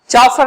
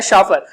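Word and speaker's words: chauffeur: चॉफर नहीं बोलेंगे इसे, शव, इसका प्रोनाउंसिएशन होता है शॉफर।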